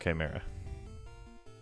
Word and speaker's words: chimera: absorb one instead of like 34 it's actually pronounced chimera come on all right we might actually net